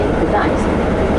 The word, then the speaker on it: Gdańsk: We, Slavic people, always say Gdańsk. German who ruled here in 19th century, they couldn't pronounce it, they use name Danzig.